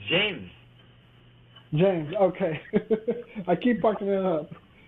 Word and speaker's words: Jaymes: Is it James? It's James.